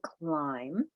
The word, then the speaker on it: climb: We have climb, which is blend in the beginning, silent letter pattern with that B. It's not climb, but climb, right?